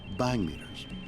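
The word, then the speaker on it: bhangmeter: two light sensors called bang meters bang meter was a relatively simple device designed to detect flashes of light it's spelled b-h-a-n-g it's actually named after a drug using an indian term a drug that if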